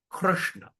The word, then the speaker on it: Krishna: So, when you say R, you don't put your tongue in front. Put your tongue at the rushna.